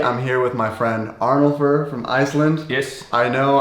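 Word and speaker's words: Arnúlfur: Arnùlfur. That's a little bit for you to chew on, right? Yeah. Arnùlfur. It's like you have to scream it a little bit, like Arnùlfur.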